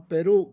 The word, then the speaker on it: Perú: And then, where I originally come from, Perú. It's not Perú, it's Perú. So, you have to put an accent on that last syllable, on that u of Perú.